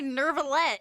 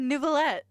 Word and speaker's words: Neuvillette: He didn't say Nervalette. He said Neuvillette.